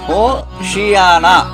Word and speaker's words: ஓசன்னா: ஓசன்னா இது எபிரேய வார்த்தை என்று நான் ஏற்கனவே சொன்னேன். எபிரதேய மொழியில் அதன் சரியான உச்சரிப்பு ஓசியானா ஓசியானா என்று சொல்லப்படுகிறது.